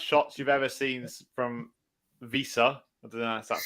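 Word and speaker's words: Wissa: of the worst shots you've ever seen from Visa that's how you say it and uh vandeven's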